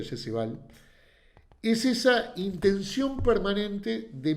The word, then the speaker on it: Jesse Ball: Por lo tanto, lo que le rescato a Val, creo que se pronuncia Jesse Val, es esa intención permanente